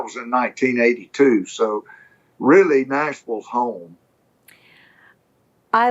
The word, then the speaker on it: Nashville: I try to say it correctly, and I still say the Ville, and it should be the Vul, right?